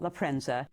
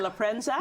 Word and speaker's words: La Prensa: Is it Lrenza? You got to you got to roll your R a little bit.